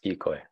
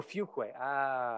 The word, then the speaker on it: Fuquay: Want to make sure I pronounced it correctly for the censors. That was pretty close. how Fuquay is it? Yes, Fuquay. Oh, Fuquay.